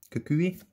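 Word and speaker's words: Kukui: Cuckooey. I know that's how it's pronounced. I just call him Cookie.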